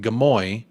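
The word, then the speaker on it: Gimuy: leave uh good day from gamui pronounced gamoy also known as Cairns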